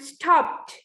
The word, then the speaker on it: stopped: Stop and stopped. Stopped. At the end, it is pronounced as a T. Though it is D.